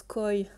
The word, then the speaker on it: Koei: i deluxe non mais je sais que koei ça se prononce coy je veux dire je